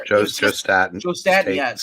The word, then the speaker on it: Staton: Joe Staton, yes. Staton, I think he pronounces it.